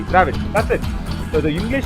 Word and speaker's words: Dravid: You know, whatever we pronounce, we write. You see, in Kannada, in Tamil, whatever we say, if it is Dravid, it is Dravid. Okay, we say it as Dravid, and we write also D-R-A-V-I-D, Dravid.